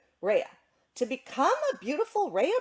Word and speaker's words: Rhea: of which is the Raia bird. Am I pronouncing it right? I don't know. It's Rhea.